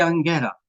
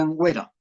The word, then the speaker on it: Anguera: Nuestra Señora de Anguera, Nuestra Señora de Angüera, Brasil, Angüera o Anguera, como queramos pronunciarlo.